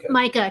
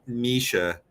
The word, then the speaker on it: Mica: names you said um it's m-i-c-a I don't know how you pronounce it though Micah because it's short for Michaela yeah oh okay there it is that makes more sense because you said Misha and that made me